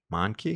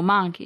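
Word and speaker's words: Mahnke: to pronounce it M I thought it's m a an or I'm sorry m a n k monkey oh monkey yeah okay they do that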